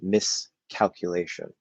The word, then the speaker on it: miscalculation: at the start um when we say this we're adding this prefix and we're not actually saying sk we're saying like and it's not that the the air flow stops but it's it's like we're saying miss calculation without that that gap um and so it's